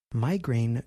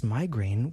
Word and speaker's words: migraine: American English we pronounce Migraine with two vowel sounds I and a the first syllable has the I vowel sound my and the second syllable has the a vowel sound grain listen and repeat after